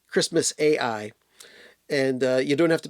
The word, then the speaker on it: Xmas AI: My favorite songs on here are Xmas AI. It's spelled I, but it's Christmas AI.